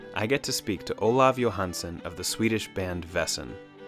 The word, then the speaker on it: Olov Johansson: My name in Swedish pronunciation is Olov Johansson.